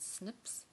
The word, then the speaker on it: SNPs: known as is snps we pronounce that Snips and SNP stands for